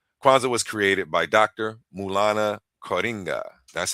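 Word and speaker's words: Maulana Karenga: Mulana Coringa.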